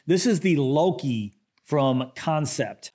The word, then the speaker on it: Kansept: This is the Loki from Kansept. I think I've been pronouncing their name Kansept for my last couple videos, but I believe it's pronounced Kansept. I believe, so I apologize if I'm butchering the name, but I'm gonna call it the Kansept Loki.